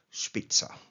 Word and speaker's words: Spitzer: man called um Leo Spitzer but I'm pronouncing it the German way.